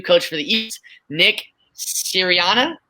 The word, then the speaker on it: Sirianni: I can never pronounce his name, but the new coach for the East, Nick Sirianni. Sirianni, yeah, you got it.